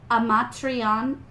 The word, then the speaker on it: amatriciana: C next to I makes a ch sound. If it's C-H-I, it's key.